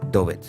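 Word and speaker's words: Doğubayazıt: Y tengo que decir sobre la gente de Dogu Beyazid, que bueno, en turco se dice Dobet, pero hasta que te lo aprendes, se escribe Dogu Beyazid, pues yo he sentido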